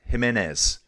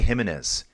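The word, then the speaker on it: Giménez: Uh yeah, I'm going to say his name wrong. Andre Jimenez. I want to say Gimenez.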